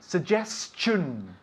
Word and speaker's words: suggestion: Suggestion. Suggestion. Suggestion. Not chion. No, chun. Chun.